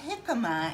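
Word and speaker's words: jícama: a jicama, and Jicama. it's spelled Jicama, Okay. but the J is pronounced like an H, so Okay.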